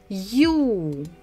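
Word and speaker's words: ю: behind it maybe so this letter is you you you you you you you you like in English when we say you are you so you you but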